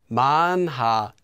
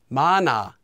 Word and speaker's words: 많아: Anytime you have a hyeot, that's this letter here, that comes between two syllables with the empty consonant, the hyeot sound will simply disappear.